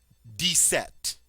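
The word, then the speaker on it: dix-sept: d 19 DN DN notice that with 17 when we said deset the X had that s sound but with 18 and 19 this time the X has a z sound D and 20 van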